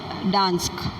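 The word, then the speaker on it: Gdańsk: और वैसे यहाँ पे भी जो है वो इसका प्रोनाउंसिएशन होगा डांस्क।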